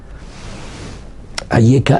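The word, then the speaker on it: אַיֶּכָּה: Ayeka et Echa, c'est le même mot. Ayeka, c'est Aleph, Yud, Chaf, E. Et Echa aussi, c'est Aleph, Yud, Chaf, E. La différence, elle est dans la prononciation, parce qu'il y a 3 petits points en dessous du Yud, quand Hachem il me parle.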